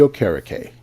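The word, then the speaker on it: Okereke: locker room it's gonna be good now Bobby o'kara Kay yes that's how you pronounce his name I know how it's spelled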